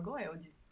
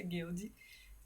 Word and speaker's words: Goeldi: a título de curiosidade toda vez que eu lia o nome dele eu falava goel aí através de pesquisa eu descobri que o a pronúncia guild inclusive vai fazer sentido